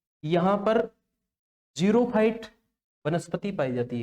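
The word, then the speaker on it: xerophyte: ठीक है, स्पेलिंग इसकी XEROPHITE इस प्रकार से, तो उसका प्रोनाउंसिएशन जो होता है वो जीरोफाइट वनस्पति पाई जाती है।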